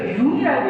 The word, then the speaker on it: Jung: 보는 사람이 아니었기 때문에 저는 막 교재에 JUNG라고 써있는 사람을 보면서 정씨가 누굴까? 도대체 꿈에 대해서 얘기를 하는 이 정씨가 누굴까? 그랬더니 교수님이 읽으시면서 융이라고 읽으시더라고요.